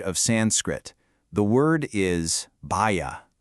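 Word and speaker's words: भय: The word is bhaya. It's pronounced bhaya.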